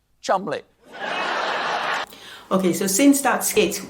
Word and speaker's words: Cholmondeley: The Marchioness of Cholmondeley. What a beautiful name that I'm being told right now that I pronounced incorrectly. It is, in fact, pronounced Chumley.